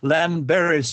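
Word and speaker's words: Llanberis: called Lan Baris and just as a talk on Welsh words Lan Baris is spelled l l a n b r i s so you know double letters but at L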